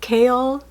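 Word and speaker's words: Chaol: Apparently it's pronounced Kale. Kale, not Kale. And my husband still calls him Cow, but I'm just going to say Kale.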